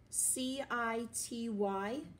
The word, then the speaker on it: city: this story number one CIT y city in this word the C is making the soft C sound it's making the S sound of they moved to